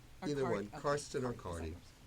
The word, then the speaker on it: Cardi: And I actually changed the spelling of my name from C-A-R-T-Y to C-A-R-D-I because it's cardiology, which has to do with the heart. And that's the way everyone pronounces it anyway. They all say Cardi.